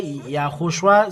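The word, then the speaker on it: יההוֹשֻׁע: That's why YAHHOSHUA said, I wear the name of my Father. So he is the salvation. The salvation is established. He, then O, then Shu, and three dots under this, and Ah.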